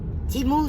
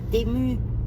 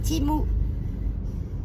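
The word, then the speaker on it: Temu: Timou, ça se dit, pas Tému, c'est Timou. Enfin, pas prononcer la française, quoi, on prononce l'américaine, c'est un site américain.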